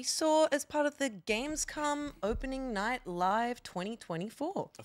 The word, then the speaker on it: Gamescom: It's pronounced Gamescom. Yeah. Gamescom.